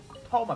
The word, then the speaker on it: Thoma: out like like i said toma banner it's not even a hotel ban it's